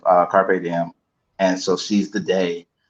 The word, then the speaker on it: carpe diem: So carpet denim is a mispronunciation of carpe diem, and so seize the day.